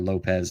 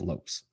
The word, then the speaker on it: Lopes: car, his name is Eric Lopes or Lopez, depending on how you pronounce it. But it's been told to me that his pronunciation is Eric Lopes.